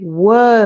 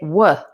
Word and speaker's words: were: to that pronunciation because we don't say if you were me which is a very nice like very strong pronunciation but that's not the way we speak we say wha for were so if you were